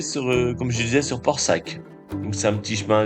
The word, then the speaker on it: Porsac'h: Donc on arrive sur Port-Sac. Donc Port-Sac je vous l'ai écrit hein, parce que ça s'écrit pas comme ça se prononce.